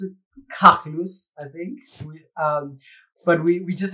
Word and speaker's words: KAGLOOS: The brand I'm using, which would be pronounced something like KAGLOOS or KAGLOOS, something like that. It's a phonetic variation of my real name, which is Carlos.